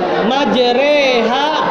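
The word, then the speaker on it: مجراها: bismillahi majraha wa mursha Tapi kita bacanya bismillahi majreha wa mursaha. Kenapa dibaca re? Itu ada hukumnya. Itu hanya orang-orang tertentu yang bisa. Jadi dibacanya sebenarnya bismillahi majroha wa mursaha itu hukumnya imalah ya.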